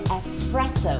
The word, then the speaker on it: espresso: 特浓咖啡是 espresso 或者 short black，很多人就会读了 espresso，可能因为 express 这个字。